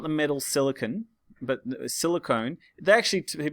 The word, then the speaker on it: silicone: Silicone, written with an E, not the metal silicon, but silicone. They actually, to be honest, they're both pronounced silicon, but I pronounce it silicone to help you remember.